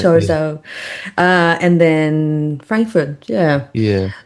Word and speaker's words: Chorzów: And Bucharest and Chorzów, I think it's pronounced in Poland. in Poland, yeah. Chorso, how Lars Warsaw. calls it. Yeah, yeah, Chorso.